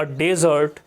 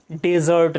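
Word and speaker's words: dessert: यदि आपने कहा कि आई had taken a डेजर्ट, तो द पीपल विल अंडरस्टैंड कि आपने ये डेजर्ट लिया था। क्लियर? आपने ये डेजर्ट खाया था। सो डेजर्ट नहीं बोलना है, इसको डिजर्ट बोलना है।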